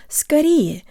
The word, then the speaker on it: скорее: to pronounce the word Scotty which means sooner or sometimes soon as in the phrase but put of lysis Katie or get-well-soon tell your brain the O represents a schwa sound and use good default